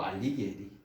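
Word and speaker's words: Alighieri: 리기리 혹은 이제 뭐 이탈리아 발음으로 알리기에리 뭐 이렇게 부르기도 하고요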